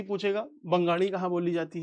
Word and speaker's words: बंगाल: को, आपने सुना होगा बंगाड़। आपसे बोलेंगे आप कहाँ से हो? बंगाल से हूँ, बंगाड़ी हूँ। भाषा कौन सी है? बंगाड़ी है। तो बंगाल, बंगाल हिंदी में ज्यादा सही रहेगा, बंगाल, बंगाल।